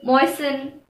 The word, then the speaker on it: moisten: Usually anything ending in S-T-N has a silent T. For example, listen, moisten. Also, the words ending in S-T-L-E are likely to have a silent T in them. For example, hustle, whistle, castle.